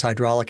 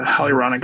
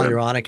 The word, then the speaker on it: hyaluronic: um the uh the I mispronounced it as hydraulic acid I can't remember what you yeah the hyaluronic acid hyaluronic acid I think those are